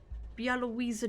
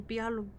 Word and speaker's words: Białowieża: of concentration camps and old churches and visiting Białowieża National Park with me instead.